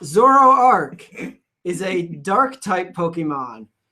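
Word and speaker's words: Zoroark: Zoro Arc, pronounced Zoro Arc, is a dark type Pokemon.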